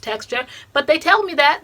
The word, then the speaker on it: TXTR: but don't tell me that txt are is pronounced texture but they tell me that they do say